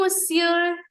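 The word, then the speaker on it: monsieur: बज मिसर मिसर okay do you know miss सबको मिस्री तो पता होगा ना हिंदी में मिस्री क्या होती है टेस्टी टेस्टी छोटी छोटी वाइट कलर की राइट तो उस मिस्री को हम लोग इंग्लिश हिंदी में मिस्री कहते हैं वैसे ही उससे रिलेटेड अगर हम लोग सर बोलने का ट्राई करें फ्रेंच में तो कैसे बोल सकते हैं मिस सर बोजू मिसर बोजू मिसर ओके द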